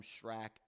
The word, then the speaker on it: Schrack: Also, Adam Schrack, I believe is how you say it. Adam Schrack, SC H-R-A-C-K.